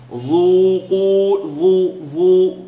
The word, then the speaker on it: ذوقوا: Because dhal is light and it has an u. So dhu, qu. Qaf is heavy and has an u. So I should be able to hear the light dhu and the heavy qu.